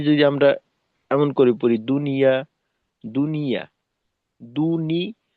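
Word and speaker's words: دنيا: যেমনটা কিনা আমরা বাংলায় বলি দুনিয়া, দুনিয়া, দুনিয়া না, আসলে শব্দটা হলো দুনিয়া।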